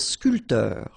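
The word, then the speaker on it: sculpteur: so a bman and sculpter same thing here this P here is not pronounced so SC SC sportif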